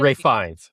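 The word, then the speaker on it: Fiennes: Is that how you pronounce it? Ray Fines.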